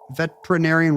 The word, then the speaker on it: veterinarian: He wants us to say veterinarian with 6 syllables like no one does.